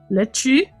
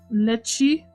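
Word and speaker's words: Letouse: Angelos was talking about lettuce being pronounced like how the French would say lettuce. Lettuce? Lettuce? Lechi? Oh! Is that how you say his name? Lechi?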